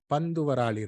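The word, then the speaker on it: Panthuvarali: It is spelled as P-A-N-T-H-U, Varali Raga. It's not Varali Raga, it's Bandhu Varali Raga.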